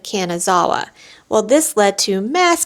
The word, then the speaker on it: Kanazawa: When talking to an attendant to make sure that we were standing on the right platform, I mistakenly said Kanzanawa instead of Kanazawa.